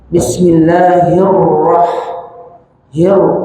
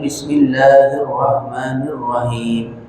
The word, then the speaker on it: بسم الله الرحمن الرحيم: Kemudian ha di sini ha kecil. Di sini ha kecil, tenggorokan bagian tengah. Orang kita bacanya, kalau baca bismillah itu dengan hak besar. Jadi bacanya bismillahirrahmanirrahim. Ini khata, ini salah. Harusnya bacanya bismillahirrahmanirrahim. Rahman, jangan rahman.